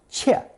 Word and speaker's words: 切: Since nothing comes closer than a knife blade as it slices through something, this visual image is the second connotation, pronounced fourth tone, 切, meaning close to or correspond to.